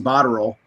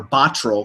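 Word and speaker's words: Botterill: wearing one to to Jason bodell or botol excuse me as he wants his name pronounced uh for his first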